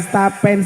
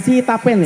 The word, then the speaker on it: Sitapen: Oke diucapkan salam dulu niki buat warga Stapen. Sitapen ya.